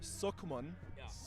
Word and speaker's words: Sukman: name correctly spelled or said is Sukman.